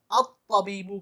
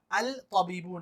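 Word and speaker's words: الطبيب: तो जब हम इस पर अलिफ लाम लगाएंगे तो लाम साइलेंट रहेगा, अलिफ डायरेक्ट ता से मिलेगा और इसको अत तबीबू कहा जाएगा, अल तबीबू नहीं कहा जाएगा।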